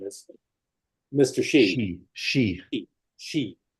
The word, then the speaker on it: Xi: Xi, spelled with an X. No, S-H-E.